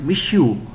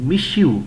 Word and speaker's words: monsieur: ये है, इसकी प्रोनाउंसिएशन नोट कीजिएगा, MONSIEUR. अब इसके अंदर N साइलेंट होगा, R भी साइलेंट होगा और आपने इसको पढ़ना है मिशू, MSIEU, मिशू लॉयज़ेल.